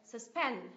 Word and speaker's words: suspend: lại là gì nhở là suspend nhớ ti thứ hai ạ suspend suspend Các bạn có nhớ phần S sao mình học không thì cái âm này không được Nhấn mình biến n thành S sao này suspend suspend tiếp ạ Cái từ